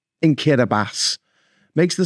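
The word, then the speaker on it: Kiribati: way you think or kiras which is actually spelled kirati but they pronounce the ti as an s in kirbas makes the spelling of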